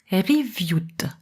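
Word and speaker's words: qiviut: Kiviut, prononcé riviut, de manière à la préparer pour le filage.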